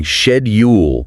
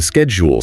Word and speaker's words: schedule: Maybe you started saying shedule and then practice until you get the schedule sound right using resources like uglish or just listening carefully.